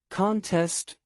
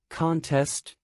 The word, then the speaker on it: contest: versus desert to abandon contest a competition versus contest to challenge listen for the stressed